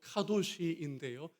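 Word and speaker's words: קדוש: 여러분, 거룩이란 앞에 보시면요, 히브리어로 카도시인데요, 이게 형용사형이고 명사형은 코데시로 발음해요. 자음은 같고 발음만 다릅니다.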